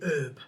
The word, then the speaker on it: herb: I found out why Americans say herb. Because it's French, and the H is silent.